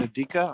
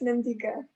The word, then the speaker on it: Nandika: I'm sorry, is your name Nadika? I'm sorry if I said it wrong. Yes, Nandika.